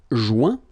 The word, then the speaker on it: joint: Joindre, joint. Rejoindre, rejoint. Okay? Same thing. Final T not pronounced. Joint. So when you get this O-I-N combination of letters, you get the sound ouin.